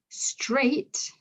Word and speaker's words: straight: Straight, A-I-G-H, it's got that A sound, straight. But again, the GH is still silent.